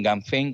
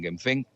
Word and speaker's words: Ganfeng: empresa que se llama, unos le llaman Ganfeng, otros dicen Genfeng, mira, pronúncialo como quieras.